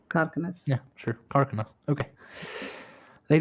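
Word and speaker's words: Kharkanas: I say Karkanas because it's closer to the Kannada word Karkane. So Karkanas.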